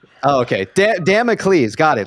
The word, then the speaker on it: Damocles: Just get the pronunciation right. Oh, okay. Damocles.